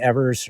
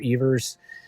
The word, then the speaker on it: Evers: The first one is from second baseman Johnny Evers, or Evers. It's actually Evers is kind of what everybody thinks is pronounced, but I think back in his hometown he was called something else, so whatever one you want to go with.